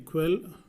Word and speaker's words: quel: Same thing, quell, which or what, masculine plural. Quell, which or what, feminine singular. Then quell, which or what, feminine plural. Okay, so the pronunciation is same but only the spelling changes.